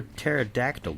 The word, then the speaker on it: pterodactyl: Why can't you hear a pterodactyl go to the bathroom? This one's might be making the kids gonna snicker a little bit. Because the P is silent.